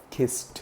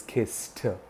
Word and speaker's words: kissed: It is kissed her. Brr, t. We pronounce it as t. It is not kissed. It is kissed.